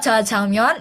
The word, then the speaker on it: 짜장면: Kalau jajangmyeon itu emang biasanya kalau misal di Google kita kalau cari emang core-nya pakainya JAJANG myeon.